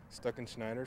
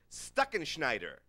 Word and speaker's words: Stuckenschneider: attempt it but it's it's pronounced the way it's spelled you know and stuck in schneider so it's pretty easy there for to pronounce it s t u s-t-u-c-k-e-n-s-c-h-n-e-i-d-e-r stuck in schneider it's a mouthful i